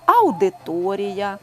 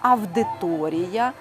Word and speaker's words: авдиторія: стосується Таких слів як аудиторія пауза фауна лауреат тепер їх бажано вимовляти зі звуком в авдиторія павза Фавна лавреат не просто буде звикнути